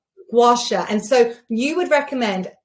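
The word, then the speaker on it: gua sha: How do you pronounce it? It's gasha. Gouasha.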